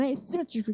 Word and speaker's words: asymmetrical: inches with an asymmetrical tread. symmetrical 발음 어려워요.